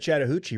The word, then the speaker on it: Chattahoochee: Speaking of Chattahoochee, rhymes with Mariucci, former coach of the 49ers in San Francisco, Steve Mariucci.